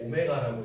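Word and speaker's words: ω: x세제곱은 1이다를 만족하는 허근을 나는 이제 뭐 w 모양 읽을 때 오메가라고 읽어요. 여기의 근을 나는이 오메가라는 녀석으로 표현할 거다. 그래서이 w를 오메가로 읽으니까 그냥 뭐 w라고 할 사람은 w라도 상관없고 그럼이 오메가라는 녀석이 한 근일 거래.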